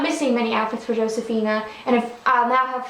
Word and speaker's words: Josefina: So, Josefina, or Josefina as it's properly pronounced, finally got her Navidad outfit.